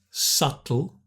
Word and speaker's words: subtle: We don't pronounce the B. Subtle.